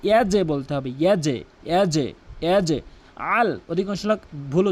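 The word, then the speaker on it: يجعل: আলাম ইয়াজআল, এখানে দুইটি মারাত্মক লেভেলের ভুল করে। একটি হচ্ছে ইয়াজ, একটি বলে ইয়াজ, ইয়াজ ইয়াজ ইয়াজ, ভুল উচ্চারণ। ইয়াজে বলতে হবে, ইয়াজে ইয়াজে ইয়াজে। আল, অধিকাংশ লোক ভুল উচ্চারণ করে আল, আল আইনের জায়গায় হামজানে উচ্চারণ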